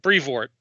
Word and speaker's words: Brevoort: Is it a like a long O sound or an ooh? It's more of a long O sound. Brevoort.